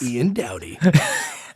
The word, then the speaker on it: Ian Dowdy: Ladies and gentlemen, Ian Dowdy? Is that how you pronounce it? Yes. Ian Dowdy.